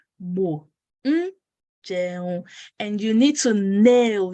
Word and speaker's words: jẹun: So bo, bo, coming, lo, going, jẹun, eating, mo jẹun, mo jẹun.